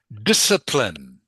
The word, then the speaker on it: discipline: The C is silent. So just pronounce the S.